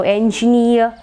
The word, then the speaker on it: engineer: So engineer, pioneer, and all that. The stress is marked on the syllable having the suffix. So near.